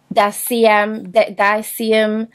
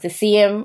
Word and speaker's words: Deciem: bottle, because you know, diacium, I keep saying diacium, but I know that's not it. It's not even spelt diacium. I'm sure it's Deceum, it's pronounced Deceum or some whatever.